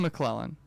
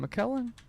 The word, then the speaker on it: McKellen: Mine right now is, I don't know why Shakespeare showed up just now, but I remember it's Ian McClellan.